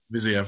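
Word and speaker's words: Fiziev: I don't even know how to pronounce that name. Viziev, that's how you say it.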